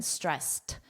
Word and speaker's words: stressed: Notice that very soft T pronunciation, stressed. Repeat after me, stressed.